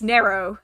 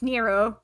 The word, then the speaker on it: Nero: that sort of thing it's narrow instead of nero although i guess also